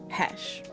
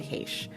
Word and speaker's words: Heche: When I looked up how to pronounce Anne's last name, I saw it on the pronunciation guide as Heche. And then I saw in interviews that she pronounced it Heche.